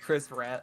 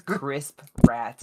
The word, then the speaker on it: Chris Pratt: I I think we should get Chris Pratt. love the Lego movie. Mhm. I love the... Oh I saw no. one person mispronounce his name as Crisp Rat, and now I can't stop saying it just Oh instinctively.